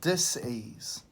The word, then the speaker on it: dis-ease: communication and symptoms of dis-ease and we really emphasize pronouncing it that way dis ease and then we bring